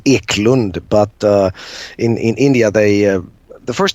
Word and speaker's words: Eklundh: It's well, the Swedish pronunciation is Eklund, but in India the